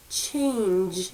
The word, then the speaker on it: change: Ch-a-n-j, change. And I hear that j sound at the end.